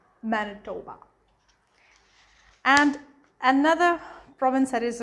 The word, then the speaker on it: Manitoba: um manitoba now if you read it's like manny tawba but when it comes to pronunciation it's manitoba manitoba and another province that is really popular with